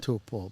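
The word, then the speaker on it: Taupō: be pronouncing the location Topo is what most people refer it to but the mauy name is to so if you just think toe and Paul right to PA but everybody knows too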